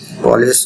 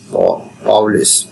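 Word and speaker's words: Pauli: এরপরে পলিস বর্জন নীতি বা পলিস স্কুলেশন প্রিন্সিপালস পাউলিস পাউলিস উচ্চারণটা যেভাবে জেনিতে পারে পাউলের বর্জননীতি পাউলি পাউলিস এক্সপলেশন প্রিন্সিপাল আমরা কষেত্রে পলির বর্জনীতি বলি আসলে পলি হবে না পাওলি হবে বা পলিস হবে বুঝতে পারলেই হবে এই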